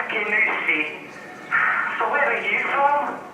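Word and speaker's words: Kingussie: McIntosh from Kingusi. It's Kinusella, pronounced Kinusi.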